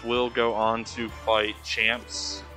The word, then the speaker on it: Champs: go on to fight champs champs it's like chance spelled with the m uh he's a bowser